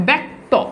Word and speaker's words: ব্যক্ত: তোমাকে সোজা কথা বলি অর্থাৎ শব্দের আর্ধে যদি তুমি যদি জফালা পাও তাহলে সেই জফলার উচ্চারণ অনেকটা এর মত হয়ে যায় বা জফালা আকার হয়ে যায় বুঝতে পেরেছ জফালা আকার